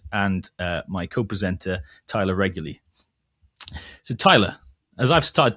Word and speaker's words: Reguly: You can get to know myself, and uh my co-presenter, Tyler Regley.